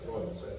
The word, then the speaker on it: glyphosate: pH, according to Karen, is pronounced F, so it's glyphosate.